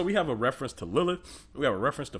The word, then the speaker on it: Lilith: Pronounced Lilith.